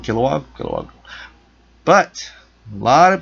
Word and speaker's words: Kilowog: out kilowog that's how you say his name kilowog kog but a lot of people are thinking